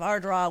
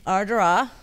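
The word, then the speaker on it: Ardara: Yes, we went to the small town of Ardrah, which is the most... Say it again. Ardrah. Ardrah. How do you spell that? A-R-D-A-R-A. Oh, wow. So it looks like Ardera, but right, it's pronounced Ardrah.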